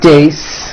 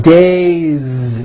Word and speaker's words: days: It's not days, unvoiced. It's days with a voiced Z ending.